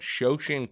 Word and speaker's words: Shoshin: that we were going to just speak about shosen Consulting is that how you pronounce it yeah that's it now how how'